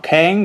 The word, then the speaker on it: Kang: in Dice Masters uh but uh what Kang Kang yeah that's how you say his name I